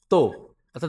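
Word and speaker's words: た: চতুর্থ লাইন যেটা হচ্ছে তা চি সু তে তৎ বাংলাতে যদি আমি দেখি তা চি সু তে এটার উচ্চারণটা দেখি।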